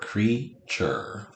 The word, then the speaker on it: creature: which is true but this u is not saying you right this word is not creature creature so it's not saying its name sound of you so this is actually